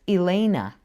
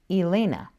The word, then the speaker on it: Elena: Or like the name Elena, I hear it pronounced as Elena. Elena.